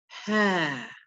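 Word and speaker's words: ه: are, the last letter, ha, ha, a very soft, breathy letter, ha. So this is made by just separating the lips slightly, ha, and then bringing them back together again.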